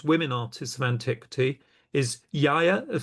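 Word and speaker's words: Iaia: Well, one of the few named women artists of antiquity is Yaya of Sysicus. I'll spell that for you.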